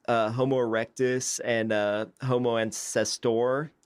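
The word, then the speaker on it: Homo antecessor: Homo erectus and uh Homo ancestor I think is how you pronounce that so I mean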